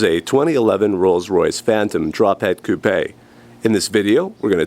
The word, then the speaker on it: coupé: It is spelled coupe, but they add an accent over the E to make it sound, I guess, a little more fancy as coupé.